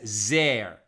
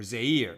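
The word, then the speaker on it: זֵר: tsar meaning strange but according to the traditional vocalization we read it as zer or zaire meaning meaning crown so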